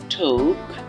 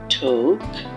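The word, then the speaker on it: talk: তারপরের শব্দ টক আমরা ছোটবেলা থেকেই পড়তাম এটাকে টক নামে বাট এটা আদৌ টক নামে এটি হচ্ছে যে আমাদের একটা ভুল উচ্চারণ ছিল এটার সঠিক উচ্চারণ হবে ঠোক ঠোক ঠোক আচ্ছা তারপরের শব্দটি যেটি হচ্ছে খুব সুন্দর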